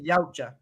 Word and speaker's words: Yautja: Like I never thought I'd seen the Yachua or whatever the fuck their names are. Fight, Yautja. Gotcha. huh? It's pronounced Yautja.